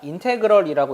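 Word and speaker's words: integral: 이 기호를 어떻게 읽냐? 인테그럴이라고 읽어요.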